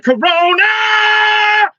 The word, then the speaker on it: Corona: Corona, Corona, Corona! Corona, Corona, Corona! Corona, Corona, Corona! I love the amo Corona. Corona. Hey, there you go, Tommy. Roll your R's when you say it.